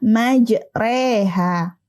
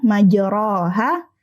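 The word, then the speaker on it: مجراها: coba kita perhatikan kata majreha majreha di sini tidak dibaca majroha atau majriha tapi majre harakat fathahnya kita miringkan ke kasrah nah dalam bacaan ini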